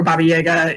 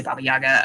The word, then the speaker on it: Baba Yaga: kind of thing um or baba yega is is the more correct pronunciation but kind of in in english i think most people say baba yaga um yeah she so